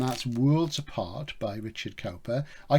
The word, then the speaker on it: Cowper: Worlds Apart by Richard Cowper. I call him Cowper. Richard Cooper is the real pronunciation. I call him Cowper so you can get the spelling right.